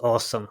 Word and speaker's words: AWESM: So it's AWESM. I guess Yeah, it's pronounced awesome, right?